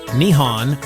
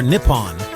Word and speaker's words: 日本: This is pronounced Nihon or Nippon.